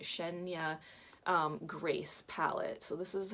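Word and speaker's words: Cheyna: name is Shen yeah she spelled ch ey na but I believe you pronounce it Shen ya Grace palette so this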